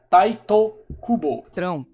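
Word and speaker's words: Tite Kubo: Tite cubo o é essa é a romanização do nome dele em inglês tá o a pronúncia correta e a escrita também seria taito cubo o homem a máquina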